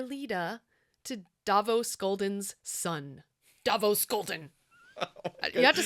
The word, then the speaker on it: Davos Skolden: Davos Skolden.